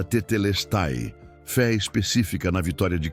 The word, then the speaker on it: Tetelestai: A palavra que Florence redescobriu era Tetelestai, pronunciada tetelesti, fé específica na vitória de Cristo.